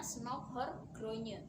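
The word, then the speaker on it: Snouck Hurgronje: adalah know now Hurgronje tulisannya ya Tapi bacanya Snouck hurgronye dan ini adalah gambar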